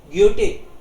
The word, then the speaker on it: Goethe: पूरा नाम है इसका योहान वोल्फगांग फोन ग्योटे. टे इसलिए क्योंकि एच तो साइलेंट रहता है, सो ग्योटे बोलेंगे इसको हम लोग.